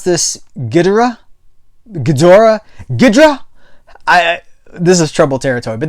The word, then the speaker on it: Ghidorah: I pronounce this Ghidorah.